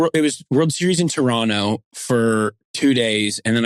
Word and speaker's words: Toronto: Also, fun fact, did you know Canadians do not say the second T in Toronto? So you you would pronounce it like Toronto. Toronto.